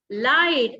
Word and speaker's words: light: We don't pronounce G and H here.